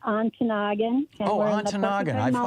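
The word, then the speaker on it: Ontonagon: welcome back Susan and is it on tonigan Michigan it's a town I've never been to am I saying it right you are saying it right almost it's on to Noggin okay I've heard of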